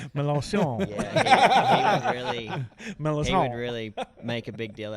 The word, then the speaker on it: Melancon: to say it, and kind of told him the background, like it's French, and so then he started kind of overdoing it, like Melancon.